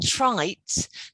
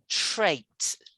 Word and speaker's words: trait: the right definition okay ah not trites this first one is more like trait so it's traits like that what do you think